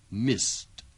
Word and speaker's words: missed: Dengarkan perbedaan ucapan dari bunyi akhiran tadi. I missed. The meeting ended. Missed. Ended. Bunyi yang terakhir, ejaannya sama, yaitu ed, tetapi ucapannya berbeda.